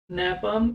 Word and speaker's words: napalm: नैपाम, NAPALM, ये L silent है तो इसको नैपाम बोलेंगे।